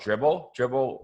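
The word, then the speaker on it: Dribbble: No, these pictures, I get them from this site called Dribble, like dribbling a basketball, but spelled with 3 B's.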